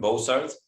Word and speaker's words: Bozarth: I'm very happy to be joined today with by Bozarth. Am I pronouncing it correctly?